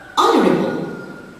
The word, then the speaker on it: honorable: Honorable. So the silent letter here is the mute H in the initial position.